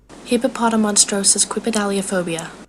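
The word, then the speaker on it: Hippopotomonstrosesquippedaliophobia: I don't know how to pronounce it either, but Google does. Hippopotamonstrosis quipedaliophobia.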